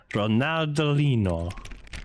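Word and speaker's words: Ronaldinho: why I just do say it like it's Portuguese ronaldino that's not portuges you're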